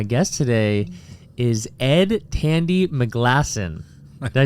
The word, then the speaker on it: McGlasson: my guest today is Ed Tandy McGlasson.